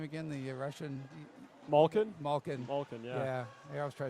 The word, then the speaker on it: Malkin: Malkin, yeah.